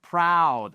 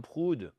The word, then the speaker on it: proud: Is proud. I'm proud of my children. I'm proud of my children. Et pas I am prude. Never, ever.